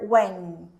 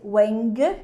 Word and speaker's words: wang: I have the word Wang Wang you see that I don't pop the G I don't say Wang so let's see how